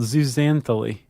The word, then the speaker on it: zooxanthellae: I want to pronounce it. Okay, go ahead. Uh it's called zooxanthellae.